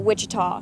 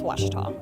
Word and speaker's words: Ouachita: Back in Texas, everybody pronounces it Wichita, but really, it's Ouachita.